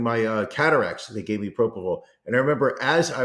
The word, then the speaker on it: propofol: understand now why Michael Jackson got hooked on Prohypnol, because that's what they used to put me out for my my colonoscopy, and it just I had that. Yeah. I had no, it was propofol.